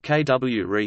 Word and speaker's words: CUORE: The Cryogenic Underground Observatory for Rare Events (CUORE), pronounced KWRE, is a particle physics facility located underground at the Laboratorio Nazionale del Gran Sasso in Assurghi, Italy.